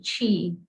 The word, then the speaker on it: Qi: to make a correction i mispronounced your name and i apologize it is chee thanks lj um